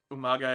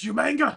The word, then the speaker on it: Umaga: When William Regal mispronounced Umaga as Yumanga.